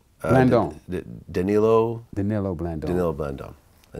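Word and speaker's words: Danilo Blandón: How do you pronounce the name? Blandon. Danilo Blandon.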